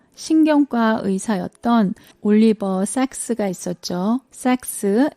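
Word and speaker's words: Sacks: 삭스, S-A-C-K-S예요. 잘못 발음하면 오해할 수 있기 때문에 정확히 알려드립니다.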